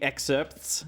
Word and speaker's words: excerpts: I think the P is silent. Excerpts. No, But you're right. It's fucking hard. You got to add a soft Excerpts. P because otherwise it's just exert.